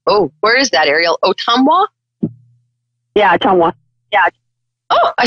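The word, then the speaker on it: Ottumwa: ariel and um oh where is that ariel otumwa yeah yeah oh i said it right good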